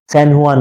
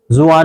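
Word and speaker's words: San Juan: लिया करो भाई इसको सनहुआन रिवर ठीक है जे को मैं एच प्रोनाउंस करूंगा हुन रिवर जुान नहीं बोलूंगा उसको।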